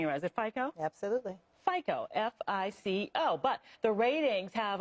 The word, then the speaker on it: FICO: much so i don't even know if i'm pronouncing her is it fico absolutely fico f-i-c-o but the ratings have a much bigger